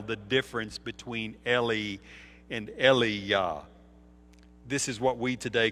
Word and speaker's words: Elijah: They all knew the difference between Eli and Eliyah, which is the Hebrew pronunciation of Elijah.